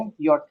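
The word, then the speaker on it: Jot: यट हो गया। इसको क्या पढ़ेंगे हम? यट। यट। य किसका साउंड देता है? या का साउंड ये क्या हो गया?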